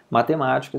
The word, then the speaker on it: matemática: Matemática, se você for ver aqui, na palavra matemática, nós temos a última sílaba, nós temos a penúltima sílaba e nós temos a antepenúltima sílaba, que é o ma.